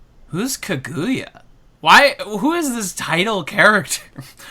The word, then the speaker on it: Kaguya: Well, you said it wrong, so... Did I? Kaguya.